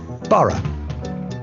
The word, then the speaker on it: Borough: great river is the thames greenwich leicester square borough one of the best ways to really discover